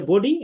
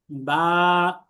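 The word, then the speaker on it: ب: অর্থাৎ এসবিএম মেথডে আমি বলি যে স্বাভাবিকভাবে আপনার কোনো কষ্ট কসরত কিচ্ছু করতে হবে না, আপনি স্বাভাবিকভাবে শুধু দুইটা ঠোঁটকে মিলাবেন। যেমন প্রত্যেকে মিলান বা, এইভাবে রাখেন, সবাই আগে মুখটাকে মেলান, এমনি চুপ হয়ে যান, সাইলেন্ট।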